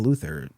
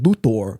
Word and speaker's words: Luthor: series that's interesting because you do have Otis very pointedly saying Mr luor but I I always took that it's so cartoony it's so over the top it's in my mind meant to be that mispronunciation I mean Jee Hackman